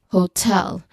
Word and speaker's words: hotel: Just like for this word hotel, this is a noun. Hotel is a noun. But the stress here is on the second syllable, which is unlikely of the rule that I've mentioned in our previous discussion.